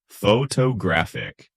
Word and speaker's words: photographic: But in photographic, it shifts to the third syllable, photographic.